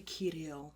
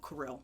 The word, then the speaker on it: Kirill: and i said and i say his name wrong because it's actually kirill but i'm like i call him karel because i'm from texas and like yeah it sounds like that fish that gets eaten she can't be bothered